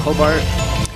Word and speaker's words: Hobart: Hobart? Hobart. Oh. Or the same thing. Hobart.